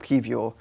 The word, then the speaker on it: Kiwior: And also, it looks like today or tomorrow, at the time of recording, Jakub Kiwior is going to get announced. I got the pronunciation spot on.